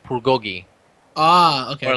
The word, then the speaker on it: bulgogi: If the word starts with it, it should sound more like a B. So they actually kind of say like bulgogi.